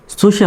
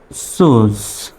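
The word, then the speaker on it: choose: ই তে একার হয় তো কি চুষি হবে অবশ্যই নয় চুসে হবে না হবে হলো চুজ চুজ সি এস তে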